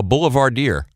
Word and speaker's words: boulevardier: Why do you call Richard Benjamin, I found this interesting, Buck, a boulevardier? Am I pronouncing that right?